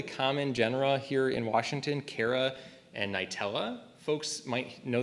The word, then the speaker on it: Chara: Some people pronounce it chara, I pronounce it cara, same thing.